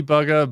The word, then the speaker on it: Bugha: booga or is it bugger so proper pronunciation might be bugga but i i always go buga because whenever i think of his name i think of courage yup yelling out his name oh god so like